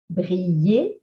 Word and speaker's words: briller: ILL. It makes the sound of Y, like in yes or yellow. Briller, cheville, coquillage, mouillé.